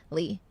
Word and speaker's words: Lea: The song is called One Good Man, and it's my next single off my EP, pronounced Lee.